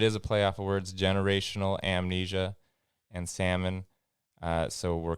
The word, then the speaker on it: Salmnesia: words but it is a playoff words generational amnesia and salmon uh so we're calling it amnesia which is spelled s-a-l-m-n-e-s-i-a it's amnesia and that's the website